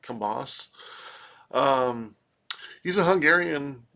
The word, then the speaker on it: Kambas: I'm pronouncing that correctly I believe the B is silent Kamas uh um he's a